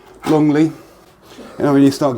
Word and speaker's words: Longleat: were in Frome, and Longleat, L-E-A-T, I think it's spelt, but I think it's pronounced Longleat.